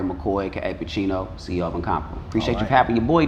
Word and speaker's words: NCMPRBL: So he has his own watch company called NCMPRBL, right?